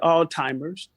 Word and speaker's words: Alzheimer's: that are suffering from Alzheimer's um it's with a z sometimes we we pronounce it alltimers and if you grew